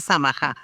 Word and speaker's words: Samaha: Sí, fíjate, es un nombre no muy común porque es de origen libanés y se pronuncia y el apellido se pronuncia Samaha.